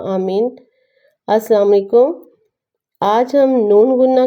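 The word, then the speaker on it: नून ग़ुन्ना: आ जाती है न अगर नुक्ता नहीं है तो इसको नून गुन्ना कहते हैं इसके साइलेंट होता है इसकी आवाज नहीं होती बहुत माइनर सी आवाज अ में आती है लेकिन वो अ इतनी ज्यादा वाजिया तौर पे नहीं बोली जाती देखते हैं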